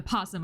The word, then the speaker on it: opossum: drawer belongs to the opossum and there's nothing you could do about it oh sorry the possum i learned recently you're not supposed to pronounce the oh you open the top